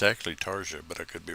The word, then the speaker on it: Tarja: well, I think it's actually Tarja, but I could be wrong. Or Tarnia. At any rate, The J is silent, by the way, there.